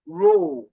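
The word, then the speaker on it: rho: the density yes 2p the symbol is row row row it is pronounced as r h o row okay row row so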